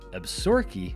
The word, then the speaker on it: Absaroka: yellowstone we stated the absaroka inn which is named after a nearby mountain range and is usually pronounced absorkey by the locals you can't beat this